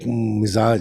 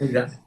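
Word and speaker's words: मिज़ाज: देखिए, गजल का एक मिजाज है, ये लफ्ज बाय द वे अक्सर लोग गलत प्रोनाउंस करते हैं, हम्म। अक्सर मजाज कहते हैं, मिजाज कहते हैं, मिजाज। मिजाज नहीं, मिजाज। मिजाज। ज, पहले ज एंड बाद, मिजाज। मिजाज, एम आई मिजाज। जेड, एम आई जेड ए मिजाज।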